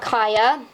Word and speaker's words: Kaya: I have Kaya. I call her Kia, so please pardon that. That was how I mispronounced it as a kid.